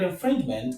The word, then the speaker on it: infringement: And in the root of the word, the stress goes on the second syllable. So, we have one, we have two from the end of the word, and we have three, the stress is on the second syllable from the end of the word, which is the penultimate syllable.